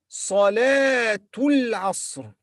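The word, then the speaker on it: صلاة العصر: Salatul Asr.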